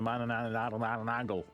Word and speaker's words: Manananggal: episode, because we have talked before about the Manananggal. Yes. I pronounced that correctly, and it's the Manananggal.